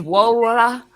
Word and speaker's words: Wola: I'd be like, yeah, my name's Wola. That's how you say it.